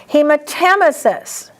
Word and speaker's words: hematemesis: Hematemesis. Underline tem because most people mispronounce this word.